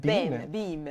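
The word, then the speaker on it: Beme: Une que j'ai trouvée très, très intéressante, c'est celle-ci, s'appelle Beam. Beam. Ça se prononce Beam, c'est B-E-M-E.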